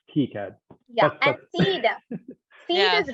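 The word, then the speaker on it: KiCad: um uh using uh how do you pronounce that keycard i pronounce it some people call it kai cad but i think it's key cad yeah and seed seed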